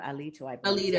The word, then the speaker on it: Alito: Alito, I believe is how Alito. you pronounce Alito.